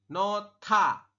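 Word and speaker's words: 놓다: berubah jadi seperti ini tulisannya nohda Anda membacanya nota Saya ulangi dibacanya nota seperti itu oke Silakan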